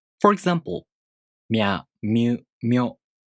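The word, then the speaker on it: みゃ: For example, Mya Myu Myo. These are pronounced with the M sound for mi plus a, u, o.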